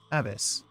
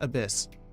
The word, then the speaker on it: ABIS: god what the hell abis oh wait no Abyss right it's it's pronounced Abyss Advanced Brain investigation Squad